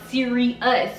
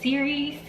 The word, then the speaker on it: Sirius: star well they said the pronunciation is actually not siri us but series series which i like